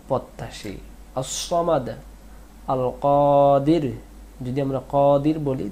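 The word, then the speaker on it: القادر: আল কাদির, আমরা অনেকে কাদির বলি, কাদির না, কাদির।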